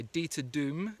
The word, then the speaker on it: Dieter Duhm: made by DEA Doom I don't know if I'm pronouncing his name exactly right some of the German people I've spoken to have pronounced it slightly differently but anyway deta Doom is how I've heard it pronounced in the UK he is a German